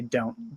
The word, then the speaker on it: don't: understand me um so the T in don't is often not pronounced so I usually just say don't don't don't don't don't understand